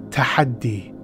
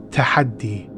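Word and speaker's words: Tahaddi: title the tahadi challenge this arabic word tahadi pronounced tahadi tahadi the tahadi challenge is something that comes from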